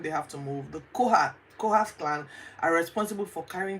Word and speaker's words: Kohath: The three main groups listed here were the Kohat, let me look for it now before I mispronounce it. I can't find why it's Kohath, the Kohath clan.